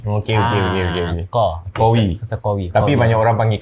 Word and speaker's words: Qawi: Qawi. Dia ejaan dia QA. Ada yang tersilap pakai Qawi, tapi sebabkan nama aku Arab. So dia kena susun huruf Qa tu.